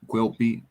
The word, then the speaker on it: Quilpie: Yeah, Quilpie. All right. Quilby, yeah.